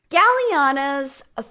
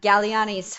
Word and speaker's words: Galleani: the regularly scheduled programming Galliano's followers galliano Galleani followers galeano oh no bethany it is the end of the world I have mispronounced Galleani followers were of